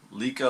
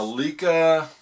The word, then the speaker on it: Leica: current camera which is a leica lika like i pronounce it l-e-i-c-a it's a lika like uh b lux